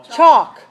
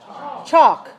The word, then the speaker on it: chalk: LK talk talk talk how about CH ALK chok chok yes I can walk